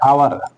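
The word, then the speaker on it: hour: का प्रयोग किया गया आवर य भी एच इसमें ए जो है साइलेंट है इसलिए इसको क्या पढ़ते है आवर है इसलिए यहा पर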